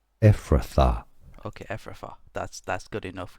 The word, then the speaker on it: Ephrathah: So stay tuned from Hebrew the pronunciation is as Ephrathah.